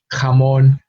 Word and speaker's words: jamón: of the English H, you do notice a sort of harder pronunciation with the Spanish J, no? Hoja, jamón, hijo, no? It requires you to sort of it requires a little bit more strength than the English H.